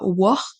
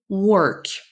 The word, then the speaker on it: work: Justement, on voit bien que pour le mot work, work, il n'y a pas de ha ici là. Ici, il y a pas de ha là. Vous voyez que c'est ce symbole, enfin c'est le son que je viens de vous montrer. Donc on dit pas work mais work. Work.